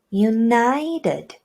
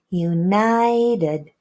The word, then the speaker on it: united: For example, united. The in the last syllable is not a full sound. It's a reduced united.